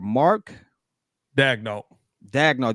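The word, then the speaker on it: Mark Daigneault: I cannot pronounce this coach of the year. Mark Dagnall.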